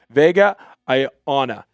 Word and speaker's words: Vega Ioane: time because it can be very difficult to pronounce. Vega Ioane.